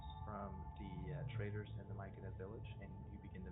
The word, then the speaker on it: Myconid: Myconid.